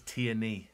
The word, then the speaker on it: Tierney: I got pulled up on a pronunciation of Tierney. It's Tierney.